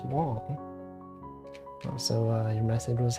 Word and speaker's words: Wang: w g and then everyone pronounce it as Wang when you think about it it's like yeah that makes sense like in Chinese people don't say they don't pronounce it like w just like it's it's Wong so uh your message